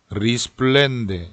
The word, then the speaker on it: risplende: 요 어리스플렌데라고 하는 단어는 자칫 잘못하면 앞에 R 발음을 L로 발음을 할 수가 있어요. 이걸 꼭 굴려서 리스플렌데 이런 식으로 발음을 해주시면 좋겠고요.